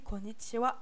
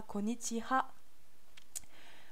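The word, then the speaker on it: こんにちは: Donc voilà, pourquoi on prononce ça wa et pas ha? Parce qu'à l'origine, konnichi, c'était deux kanji.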